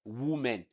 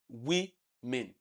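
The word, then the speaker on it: women: But the word is pronounced as we men. We men. And even here, it is not men. It is men. So the sound you have here is the vowel E, the short E.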